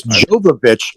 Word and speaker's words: Jovovich: It's Jovovich, and goddammit, you say it right because she is too hot for you to say it wrong.